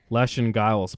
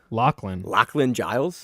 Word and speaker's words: Lachlan Giles: All right, Manchurkera defeats Lashin Giles by decision. You butchered his name. How do you say it? Lachlan Lachlan Giles.